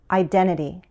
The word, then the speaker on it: identity: Americans also drop the first T in this word. For the second T, we use a flap T, which sounds like a D. Listen. Identity, identity.